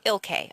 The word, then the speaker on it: Ilkay: name is Ilkay, I-L-K-A-Y. It's not that complicated, but it's unique. So it was mispronounced all the Ilkay.